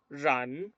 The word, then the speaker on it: run: Entonces, ese es el sonido de la R. No es el sonido de la R española, como decimos rápido. Yo esto no lo puedo decir run. No se dice run, se dice run.